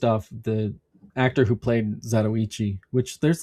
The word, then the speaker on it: Zatoichi: Am I even Yeah, pronouncing that right? Zatoichi, yeah, Zatoichi?